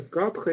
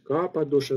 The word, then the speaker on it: капха: Третья доша — капха, или иногда вы можете слышать капа-доша, но вот это гортанное ха, в санскрите оно может произноситься, может не произноситься, поэтому так тоже правильно говорить.